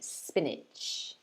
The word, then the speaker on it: spinach: syllables sp niche but again we stress the first one more than the second so we say spinach spinach spinach so try